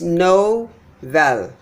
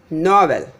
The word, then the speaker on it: novel: Next one is novel. Novel. Novel. Not novel. If I say the second one is stressed, it becomes novel. So it's sound odd.